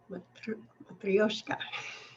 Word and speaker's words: Matryoshka: It's actually pronounced a little bit different. I have a hard time saying it correctly. Matryoshka.